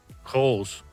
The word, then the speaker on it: Goes: If you're English, it's spelt Goes, G-O-E-S. If you're Dutch, I think it's pronounced Koos, or Kochhaus, I think it is, something like that.